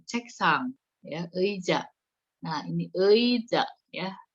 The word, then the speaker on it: 의자: Nah, ini 의자 ya. Si ei ini kalau di depan dibacanya ei. Kalau di tengah-tengah itu bisa jadi e ya. Kamu lihat aja yang kalau di depan itu ei ya.